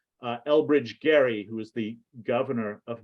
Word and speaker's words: Gerry: their party's power and it's named after a guy whose name is not Jerry it's actually pronounced Gary uh Elbridge Gary who is the governor